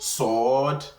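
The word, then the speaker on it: صاد: So it is something that is emphatic. It's not a light letter.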